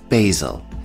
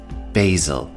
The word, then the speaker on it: basil: Our next herb is basil. Now, this is American English pronunciation. Basil.